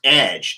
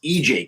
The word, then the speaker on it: EJ: edge corp and that getting people to pronounce ej as edge instead of as ej corp has been an unexpected